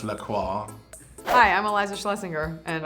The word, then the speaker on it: La Croix: It's pronounced La Croix.